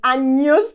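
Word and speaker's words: años: Spanish cuantos anos tienes please do not say I know say anyos pronounce the Enya properly otherwise it can get very awkward cuantos anos tienes how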